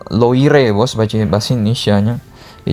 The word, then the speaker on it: Loire: Sungai Loire, bacanya Loire bos, baca bahasa Indonesianya.